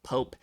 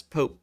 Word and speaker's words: POAP: how vitalik pronounces poep the one syllable pope and uh you know like the leader of the catholic church uh he actually had